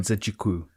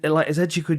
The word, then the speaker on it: Nzechukwu: Nzechukwu.